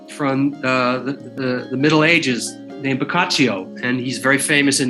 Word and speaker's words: Boccaccio: Boccaccio, right? Boccaccio. Yeah. I got it.